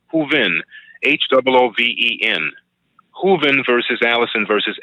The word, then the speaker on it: Hooven: Allison is spelled A-L-L-I-S-O-N. I'm sorry, Hooven. It's Hooven, H-O-O-V-E-N.